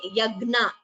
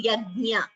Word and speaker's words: यज्ञ: This Nya is Yajnanam. It should be pronounced clearly. Do not say Yagna. It is not Gna. It is Yajna.